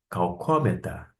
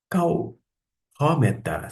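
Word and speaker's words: καυχώμεθα: Calhómeta. Calhómeta. Se você pronunciar esta letra ao invés do som do CH alemão, ficaria calcómeta.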